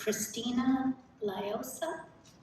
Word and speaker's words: Christina Liosa: So our first person today is Christina Liosa.